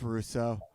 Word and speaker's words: Rousso: pronounced Rousso, Right. right? It's Russo.